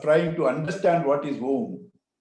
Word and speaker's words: Om: Other than that, when you try to do Upasana of trying to understand what is Om, it is a combination of three syllables. A, U, Ma.